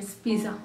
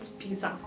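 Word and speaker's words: spiser: जो स्पीसा की जो यहाँ पर स्पेलिंग है उसमें आपको जो पी है उसको बी की तरह प्रोनाउंस करना है, स्पीसा, स्पीसा, नॉट स्पीसा.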